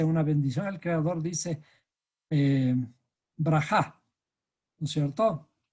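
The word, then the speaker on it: ברכה: De paso, los judíos cuando hacen sus oraciones están pronunciando bendiciones. Y esas bendiciones, se dice, una bendición, el Creador dice brajá, ¿no es cierto? Berajá o brajá.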